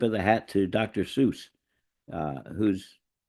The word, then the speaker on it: Seuss: believe it was, and it's actually pronounced Zeus. But he didn't bother correcting anybody and became Seuss, and that's who it is.